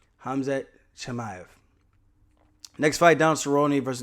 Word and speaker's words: Hamzat Chimaev: Hamzat Chimaev.